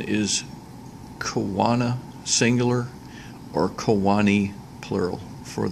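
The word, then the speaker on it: choana: are easily noticed here as well the proper pronunciation is Kawana singular or Kewanee plural for these nasal passageways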